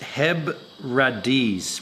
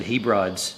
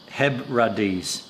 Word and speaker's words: Hebrides: single malts come from that they're making it's pronounced HEB radis what did I say I said hebrids it's pronounced hebbradis Hebrides Hebrides cool cool cool I like it